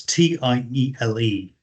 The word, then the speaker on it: Tiele: I do not know how you pronounce these, whether it's Tiele. It's Tiele. Sometimes it's spelled Chile, so Chile.